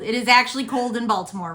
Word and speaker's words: Baltimore: Oh, there's too many syllables. Baltimore. Just roll it all together.